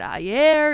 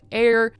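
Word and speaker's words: Aire: They were saying, is it Ayer? Is it Airy baby? Like, what is this name? But she ended up clarifying in the comments that it's just Air.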